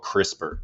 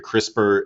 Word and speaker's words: CRISPR: Um, but for those that aren't familiar, crisper is spelled C R I S P R.